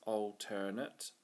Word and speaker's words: alternate: so if we see this alternate and it's got three syllables so alterate that's how I remember it we can say okay